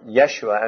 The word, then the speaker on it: Yeshua: Joshua, which is the original, or Yeshua as the Jews would have pronounced it, comes from two words, Jehovah or Yeshua, which is of course the name for God.